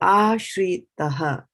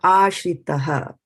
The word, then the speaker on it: āśritaḥ: So since it's inside it, the least emphasis will be placed on it. So aśritaḥ. So you see, you didn't even see me or hear me pronounce the A. It kind of went in between the T and the H over here.